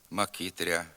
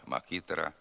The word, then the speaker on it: макітра: р перед а в окремих словах гряд квартиря коморя макитря ряма така вимова також є діалектною ненормативною слід вимовляти град квартира комора макітра рама тепер зробимо вправи з